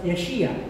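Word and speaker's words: Yeshayahu: sabihin ng pangalan niya in traditional Hebrew ang pangalan niya would be pronounced yeshia ibig sabihin the Lord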